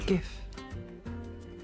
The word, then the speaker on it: GIF: constant Loop like a gif that's correct uh though some people um pronounce it don't you dare it's gif it's GIF because if you put a t on the end it's gift eyes on the menu